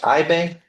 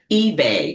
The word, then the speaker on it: Ibe: And I is your last name pronounced Ibe eBay.